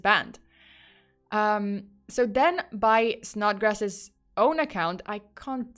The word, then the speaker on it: Snodgrass: um so then by snodgrass's own account I can't say this name with a straight face not grass I don't know why oh by the way this is spelled s-n-o-d-g-r-a-s-s not snot OT um okay so